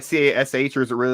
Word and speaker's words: Kash: It's KASH. It's like a rapper name. Like if you were gonna say, oh yeah, I'm Cash Money. It's like you spell it with a K.